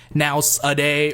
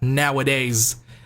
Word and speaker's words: nowadays: that doing so will become less prevalent because nowadays there's nothing wrong with this word by the way.